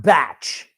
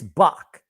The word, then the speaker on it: Bach: It's Bach, not Batch. There's no T in there. It's Bach.